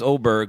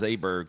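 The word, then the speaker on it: Åberg: He'll be like, well, it was Oberg, but Jim says Aberg, so we're going to be Aberg now.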